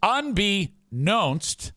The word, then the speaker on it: unbeknownst: it's I it up it's unbeknownst unbeknownst to me that's because that's how you